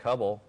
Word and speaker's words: Hubble: And Derek Hubble, like the telescope, 9 tackles.